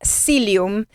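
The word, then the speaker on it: psyllium: Silium. Se escribe p S y L. P s psy lumilium.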